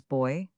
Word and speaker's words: buoy: dutch from lap boyeter the word is now usually pronounced as boy and it has been spelled in that form but hacklight's roman 5 p voyages spells it bi and this seems to indicate a different pronunciation which is also given in some modern dictionaries.